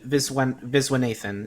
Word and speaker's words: Viswanathan: Geraldine Viswanathan. I probably butchered that. I'm sorry. I'm so sorry. It's Geraldine Viswanathan.